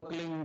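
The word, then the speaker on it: क्लीं: की मात्रा और बिंदी उसका उच्चारण होगा क्लिंग ग की निकलेगी पीछे आप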